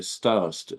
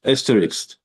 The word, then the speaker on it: asterisk: So David, Jonathan is confirming the covenant, but I would say with, how do you say, starix? Asterisk. Asterisk, yeah.